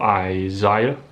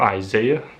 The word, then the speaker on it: Isaiah: book of Isaiah, or Isaiah. Well, in America it seems to me that the vast majority of those folks on YouTube tend to pronounce it as the book of Isaiah instead of Isaiah.